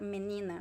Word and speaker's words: menina: as well actually mina i i see that more like is this lang word than a reduction but it is like a reduction of the word menina right it sounds like